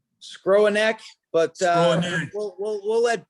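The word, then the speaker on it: Skowronek: how do we pronounce i've been calling him scarona forever but that's probably a butcher of his name but yes scrooneck but uh we'll we'll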